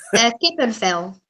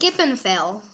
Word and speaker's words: kippenvel: Kippenvel. What is it? Kippenvel. Kippenvel. I love that. Kippenvel, when your skin. Vel is skin, and kippen, what is kippen? Chicken.